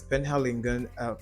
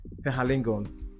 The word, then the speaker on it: Penhaligon's: That's Penhaligon. Sorry, I didn't pronounce it correctly. Penhaligon.